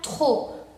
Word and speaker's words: trop: La primera palabra se pronuncia trop. ¿Por qué trop? Porque quedamos que P final no se pronuncia.